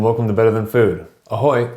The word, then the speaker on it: ahoy: Ahoy is how you say hello in Czech.